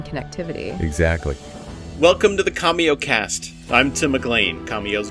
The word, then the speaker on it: Commio: one right yeah it's from the company called comeo it's c m m IO it's pronounced commo oh comeo okay got it come so they're